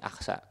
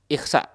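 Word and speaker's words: Al-Ahsa: Atau sebagian menuliskan bahwa cara bacanya Aqsa itu ada dua. Boleh dibaca fathah dengan Aqsa, dengan fathah di huruf alif yang pertama Aqsa, atau boleh dibaca kasroh Ikhsa menurut cara baca yang kedua.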